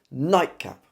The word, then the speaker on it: nightcap: So in nightcap, it's the word night in nightcap, the syllable night. So nightcap, one.